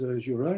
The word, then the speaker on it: Gilles: Yeah, you don't pronounce the S usually. It's okay. Gilles or Gilles is fine. Great. Fine. Thank you. Over to you. So yes, my name's Gilles, as you can see.